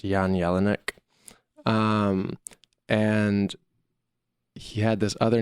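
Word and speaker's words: Jan Jelinek: this German producer named I think it's pronounced Yan Yellin ik and he had this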